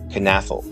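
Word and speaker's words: Knafelc: Bay Packers YouTube channel it appears to be pronounced as canfel but I like to be thorough in my research so I emailed the office of the Green Bay Packers official historian and they actually got back to me and confirmed this so the C at the end is silent but the Kate isn't while I can't make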